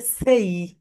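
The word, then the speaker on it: say: তোমার অনেক শিক্ষকের মুখে শুনবে I want to সে something. Right pronunciation হবে সেই।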